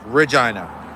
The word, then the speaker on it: Regina: Yes, it does sound like vagina. And it is pronounced Regina.